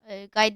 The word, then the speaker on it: Guy: Bir dakika olmadan hepsini bütün bölümlerdeki pizza yani pizza gayı bulursanız yuy gay dediğime bakm yazılışıy ingilizcile gay diye okunuyor.